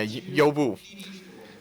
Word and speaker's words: Uber: Liu noted Uber, or depending on how you pronounce it in China, Youbu.